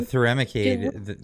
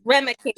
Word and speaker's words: Remicade: So the Thuremicade, is that how you pronounce it? Yep. Thuremicade. It was provided to you. Oh, Remicade.